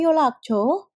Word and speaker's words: 연락처: Tulisannya 연락처. Tetapi bacanya bukan 연락, tetapi bacanya 연락처. Loh, Sam kok 연락처? Karena bacim nian bertemu dengan real, sehingga bukan menjadi 연락, tetapi menjadi 연락. Jadi bacim niannya ini berubah menjadi L.